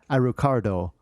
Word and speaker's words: Alucard: And it's even more apparent in Japan because Alucard is pronounced Arucardo.